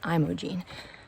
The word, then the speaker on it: Imogene: Imogene which is when I was pronouncing it Imogene and multiple hikers I've met along the way have corrected me it's Imogene so I'm gonna head